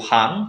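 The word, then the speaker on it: 半: Kemudian ada kanji setengah yaitu hang.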